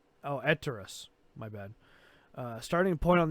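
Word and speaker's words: Etraeus: Okay, N'Zoth unleashes darkness over Azeroth as foreshadowed in the Nighthold raid encounter with Star Augur Aristus. Is that how you say his name? Oh, Eterus.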